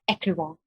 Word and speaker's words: Écrivons: And I've been pronouncing it Écrivons. I mean, I should have said it in that French, Écrivons. I should have said it.